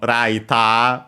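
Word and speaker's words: ライター: But yeah, it's clearly from raita with the long vowel at the end which is lighter from English.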